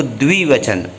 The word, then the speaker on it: द्विवचन: इसका उच्चारण फिर से सुन लीजिएगा। द में व मिलाकर द्व होता है, उसमें छोटी की मात्रा द्वि, तो द्विवचन।